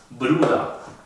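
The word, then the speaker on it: Bruder: La ER se pronuncia como A. Por eso, papía no se dice papier, sino papía. Lo mismo con madre, no es mutter, sino muta. Bruda.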